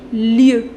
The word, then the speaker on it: lieux: In order to make its plural, les lieux. Lieu avec X. But this X you don't pronounce.